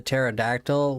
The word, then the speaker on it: pterodactyl: Why can't you hear the pterodactyl when it goes to the bathroom? It's because the P is silent.